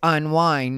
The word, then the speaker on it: Unwine: and she does uh unwind with tasha k and i didn't mispronounce unwind it is unwine you know her thing